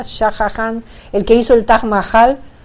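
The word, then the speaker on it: Shah Jahan: kumi es el príncipe el gobernante shahan se pronuncia shahan el que hizo el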